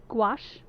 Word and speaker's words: gouache: Gouache rhymes with squash.